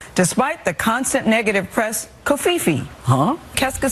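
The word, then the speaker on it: covfefe: I think it's Kofifi. There it is. Okay. Kofi. The V is silent. C O V F E F E. You're right, George. Kofifi.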